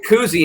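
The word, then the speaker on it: Kuhse: guard tommy cousy uh you hear koozie and you think bob it's not spelled like that um but uh but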